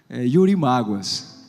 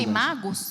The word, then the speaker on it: Yurimaguas: Yurimaguas. É o quê? Yurimaguas. o nome da cidade. Yurimagos? Yurimaguas. Yurimáguas? Yurimaguas.